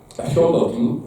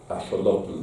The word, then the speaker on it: axolotl: y su forma larvaria, limitándose a cambiar el acento de la segunda a la tercera sílaba, es decir, Cortázar escribe axolotl en lugar de axolotl, ¿no?